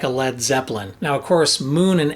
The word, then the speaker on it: Led Zeppelin: irony of naming it led zeppelin now lead is usually spelled with an a l e a d but he dropped the a just so people wouldn't mispronounce it it's not the lead